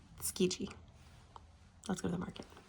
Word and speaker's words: Tsukiji: I just looked it up and I did say it wrong. It's Tsukiji.